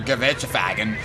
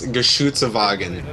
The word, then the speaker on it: Geschützwagen: Panzer IV and your Gewürzwagen and your King Tiger and all of your infantry. That could get him some steals on the AT guns. Berger, you butchered it. I think it's Geschützwagen. Oh, there you go.